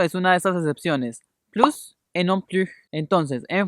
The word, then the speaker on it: plus: positiva de esta palabra vamos a decir plus como si estuviéramos leyendo en español con no española y pronunciando la s pero si vamos a utilizar la connotación negativa en este caso no vamos a pronunciar la s del final y la vamos a pronunciar como una francesa entonces esto algo como